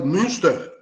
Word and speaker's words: Münster: Bom, ela, como pesquisadora, ela fez várias visitas na Alemanha, a Universidade de Münster, acho que é essa a pronúncia, né? Tem um trema lá no U.